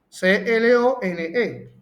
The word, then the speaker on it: clone: Clone, se escribe clone. C L O N E, pero se pronuncia en inglés clone.